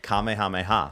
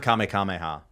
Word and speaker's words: Kamehameha: JT, how do you say it? Kamehameha. What did I say? You said Kame Kameha.